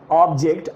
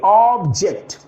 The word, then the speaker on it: object: When you pronounce the word ऑब्जेक्ट एज a noun, the pronunciation will be ऑब्जेक्ट.